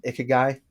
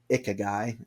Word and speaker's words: ikigai: You familiar with the concept of ikigai?